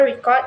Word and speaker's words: record: For instance, the word record with stress on the first syllable record indicate a noun, whereas starring the second syllable record make it a verb.